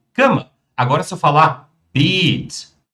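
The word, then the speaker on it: Beet: Agora, se eu falar beat, beat, mãozinha, pronúncia longa, eu já tenho um canteiro, pessoal.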